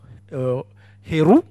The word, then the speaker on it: Heru: Le fils Horus, ou plutôt Heru, si on le prononce correctement, Heru, et devant le père, qui est Osiré, ou Osiris, comme vous le connaissez.